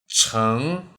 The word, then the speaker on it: 城: 成 Watch my pronunciation.